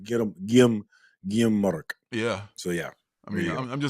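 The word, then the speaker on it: Guillem March: a Spanish channel, and I think it's Guillaume Marc. Ooh, that would make so much sense that the H is silent and the R is silent.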